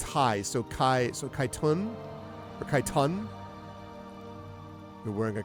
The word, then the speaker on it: chiton: High ton with an emphasis on ton. High ton? But is it... But it's high, so chiton or chiton.